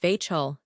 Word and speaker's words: Vachel: Vashel is pronounced vchull that is it rhymes with Russell.